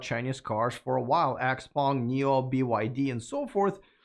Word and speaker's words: Xpeng: Well, it's called Xpeng in English. Xpeng. Okay, and in Chinese, it's called Xiaopeng, but it's a little too difficult for foreigners to pronounce. So Xpeng is the...